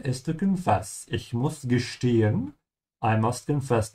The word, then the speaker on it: gestehen: Ich muss gestehen. I must confess. Notice how I'm pronouncing the S, T. Always remember S comes before a T. The sound becomes sh.